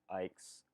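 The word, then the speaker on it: Icke: of let's say david ike's theory i apologize for uh mispronouncing his last name and my video by the way i was saying david ick um but david ike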